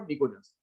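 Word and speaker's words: pnictogens: क्या बोलते हैं इसको, निकोजेंस। पी साइलेंट है, निकोजेंस बोला जाता है।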